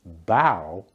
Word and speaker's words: bow: When it's pronounced bow, it means to bend forward at the waist as a sign of respect.